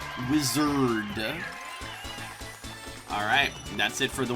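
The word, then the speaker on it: Wizzerd: And I said it as such because it's spelled W-I-Z-Z-E-R-D. Wizard.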